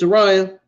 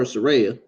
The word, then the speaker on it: Saraya: Sariah can you introduced Soraya which people like to call her Saraya I guess that's her actual name I guess that's the proper way to say it I guess both